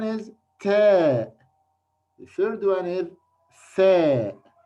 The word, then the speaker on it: ث: from number three three keep your tongue out your teeth while you pronounce pronounce fair fair three okay how can